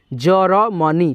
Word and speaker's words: जर्मनी: जैसे कि यहाँ पे ज है, उसके बाद से म में रेफ है ये वाला, तो हम लोग पढ़ेंगे म से पहले र का उच्चारण, र मनी, जर्मनी।